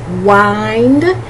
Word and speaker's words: wind: And you might say, but Coralla, I've seen that word before, and it's not pronounced wind, it's pronounced wind. It's a homograph. Two words spelled exactly the same but pronounced differently.